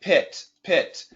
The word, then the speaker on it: pit: when we do the short I like pit pit the I sound actually really comes down comes down fast this is the I